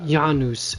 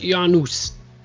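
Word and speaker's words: Janus: busier than usual 185 that word's actually yanus it's pronounced yanus get the proper Latin correct you turds it'sa I'm going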